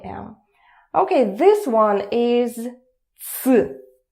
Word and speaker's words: ц: Okay, this one is ц. ц is even easier. ц is pronounced as it's.